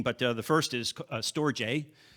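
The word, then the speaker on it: storge: what you're seeing but uh the first is storjay it's pronounced storage a and it's an empathy bond the second is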